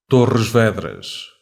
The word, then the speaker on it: Torres Vedras: Wait, how do you pronounce that? Torres Vedras. What? Torres Vedras. Oh, and people mispronounce Cairo. The Master Chief personally leaps from the Torres Vedras orbital defense station, lands upon an invading Covenant